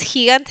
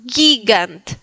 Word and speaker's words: gigant: Eh, en este caso nosotros diríamos gigant español, pero no es gigant, es gigant. Gigant. Bien, gigant.